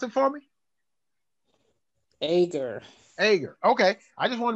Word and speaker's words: Ager: A-G-E-R. Okay, pronounce it for me. Ager.